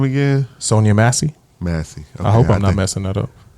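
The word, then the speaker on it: Sonya Massey: How do you pronounce her name again? Sonia Massey.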